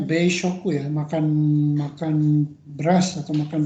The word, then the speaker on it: 米食: Nihonjin no ini dibacanya beishoku ya, makan beras atau makan padi ya, makan nasi.